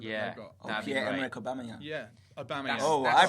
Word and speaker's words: Aubameyang: Yeah, Aubameyang. I pronounced it right.